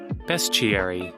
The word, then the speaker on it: bestiary: Although this may come to a shock to most of you, according to Google, it is in fact pronounced bestiary.